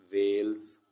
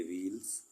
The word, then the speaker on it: veils: इसी तरह VEILS वेल्स, सही तलफ़्फ़ुज़ वेल्स है ना कि व्हील्स, और वेल्स कहते हैं नुकाब को, पर्दे को या हिजाब को या बुर्का को।